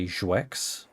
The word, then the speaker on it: Zex: the follow too um I go by Zex um so it's one syllable usually I try to